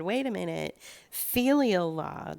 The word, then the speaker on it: filial: Filial law, that's pronounced filial, and that's F like Frank, Ilial.